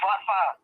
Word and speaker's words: Forfar: You're pronouncing that wrong, my man. It's Forfar.